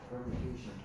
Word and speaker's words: permutation: permutation. 아주 좋아요. 그렇게 읽으면 돼요. 퍼미테이션. 그런데 이렇게 발음이 좀 그지 같고 길어서 사람들이 이걸 P라고 불러요.